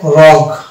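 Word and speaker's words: rogue: এখানে দেখতে পাই এটা হবে রগ, অর্থাৎ এই গ পর্যন্ত উচ্চারণ আসছে, ইউ সাইলেন্ট, মানে এখানে ইউ সাইলেন্ট পাচ্ছি, ই কে সাইলেন্ট পাচ্ছি, কেননা ইউ এর আগে আছে জি, ইউ এর পরে আছে ভাইল।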